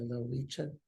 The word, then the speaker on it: Lowitja: And now you've recently started working with am I pronouncing it right, the Lowitja Institute?